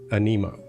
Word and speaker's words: Aniimo: But, uh, now every every character in the game is pronouncing them anemo.